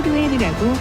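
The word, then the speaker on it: Lohan: 유럽 배우들이 미국에 진출하면 이런 식으로 현지와 미국에서 발음하는 이름이 다른 경우가 종종 있는데 린지는 아예 미국 태생이고 스스로 로헨이라고 발음했으면 로헨이 맞다.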